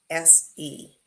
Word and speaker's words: Cadense: Cadense. Spell that again. Cadense. Okay. So cadence, like sort of the walking, the rhythmic walking, but they've changed the second C to an S.